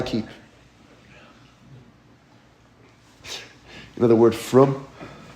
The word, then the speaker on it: frum: You know the word frum? Frum means religious, right? That's how they say it in Yiddish.